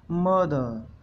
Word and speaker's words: mother: पहला वर्ड्स है, जो पहला वर्ड है मदर, MOTHER, मदर। मदर, इसको हम कैसे बोलते हैं? मदर। इसमें जो आर है उसको थोड़ा सा स्लाइटली हल्का सा दबा दिया जाता है, यानी उसको साइलेंट रखा जाता है।